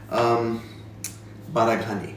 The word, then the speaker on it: Baraghani: article by Andy, God, I hope I don't butcher the poor guy's name, Baraghani, that's right, from Appétit, where somebody forwarded to